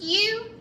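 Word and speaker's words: ewe: is called a u it's pronounced u but it's spell e w e not y o u spell it differently because it means something different a male sheep is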